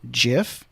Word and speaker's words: GIF: settle the matter now I know that the creator of the gif actually pronounces it jiff but it should have used a J he should have used the J but he didn't want